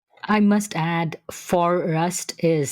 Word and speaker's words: Forust: We started Forest and it's been a great adventure, that's for sure. I must add Forest is spelled F O R U S T.